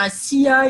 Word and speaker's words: ASEA: Donc, ASEA, donc moi je le prononce à la française, hein, on devrait dire à SIA, ils disent comme ça.